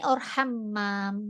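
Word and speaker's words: حمّام: eh di wamanil Hamami Hamam ini ada tasdid di sini itu ada tasdid berarti kita bacanya Hamam waam yang kemarin kita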